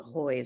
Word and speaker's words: Hui: I didn't know that's how you pronounce her surname, but it's Hui, isn't it? Yes, it is. Yeah. But it's pronounced Hoy.